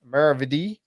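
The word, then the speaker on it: maravedí: Maravidi.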